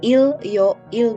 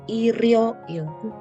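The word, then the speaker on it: 일요일: Jadi bukan il yoil bukan, tapi irio il.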